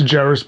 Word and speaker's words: Jarris: So I'll say like, you say it like Ferris, it's Jarris, but you say it like Ferris wheel, or like Ferris Bueller's Day Off.